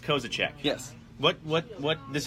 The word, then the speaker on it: Kozisek: okay Oh Z I s okay somehow that's pronounced kozachik yes what what what this doesn't count as